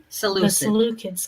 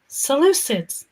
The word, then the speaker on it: Seleucid: then we have the Seleucids come in, and Seleucids, there we go. That's better. Seleucid. I'll try and remember that pronunciation.